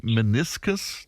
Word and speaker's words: meniscus: Somebody else wondering, what are the signs that my meniscus tear requires surgical intervention? Have I the right pronunciation of that? Meniscus? Yeah, brilliant. That was perfect, Fran.